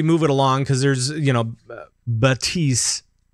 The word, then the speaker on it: Baptiste: Well, with that, I think we should maybe move it along, because there's, Baptiste, apparently. Apparently that's how you're supposed to pronounce it.